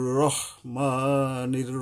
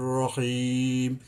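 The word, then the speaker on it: رحيم: যাবে না যেমন বিসমিল্লাহির রাহমানির রাহিম এই যে রাহিম অনেকে বলে ভুল এখানে হবে রহিম বিসমিল্লাহির রাহমানির রাহিম র র রহিম রাহিম নয় তো এই যে জবরকে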